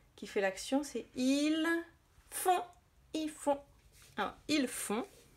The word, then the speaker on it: font: Font, ça s'écrit F-O-N-T. Et on voit encore qu'il y a N-T. Alors là, le N, on l'entend parce qu'il fait le son on avec le O.